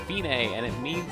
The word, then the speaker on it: fine: going to a little sound it looks like fine but it's pronounced fine and it means it's the end the finish